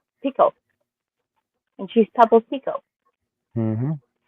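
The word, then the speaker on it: picot: It says Pico. And she's Pebble's Pico. Mhm. Now, is that how you say that? It's a pico stitch, right? Not a peacock. Pico. It's not pie. Pico.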